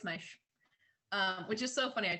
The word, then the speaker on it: Meisch: Everyone always pronounces it Mish, but it's Meisch.